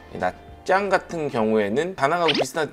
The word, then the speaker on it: Nha Trang: 야짱 같은 경우에는 나트랑이라고 우리가 보통 부르잖아요. 현지 발음으로는 야짱이에요. T-R 요 발음이 짜, 짜 이렇게 돼요. 근데 우리가 그냥 읽으면 나트랑, 외국 사람들은 나트랑이라고 많이 읽고 현지 분들은 나짱이라고 해요.